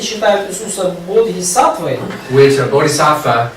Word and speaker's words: bodhisattva: Which a bodhisattva, it's actually bodhisattva. Да, That's how it's pronounced, bodhisattva.